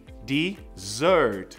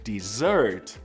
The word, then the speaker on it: dessert: E olha que loucura, sobremesa tem 2 S's, mas o som é de Z, vai entender em inglês.